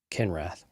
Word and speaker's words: Kinrath: Albert, do you know what rhymes with empath? No. Kinrath.